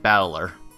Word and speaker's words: Battler: japanese pronunciation so far problem is my given name it's made up of characters for fight in person and it's pronounced battler put it all together